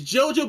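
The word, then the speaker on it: Gojo: It's JoJo, but it's spelled with a G and then a J.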